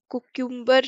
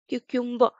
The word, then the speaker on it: cucumber: कुक्यूम्बर नहीं, क्यूक्यूम्बर.